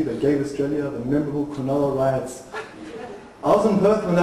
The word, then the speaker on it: Cronulla: It took my mum a while to pronounce it correctly. She was calling Cronulla the Quran of Allah.